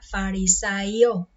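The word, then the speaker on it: Φαρισαῖος: Dice que los fariseos, el nombre es un nombre griego que se pronuncia o sería farisaio.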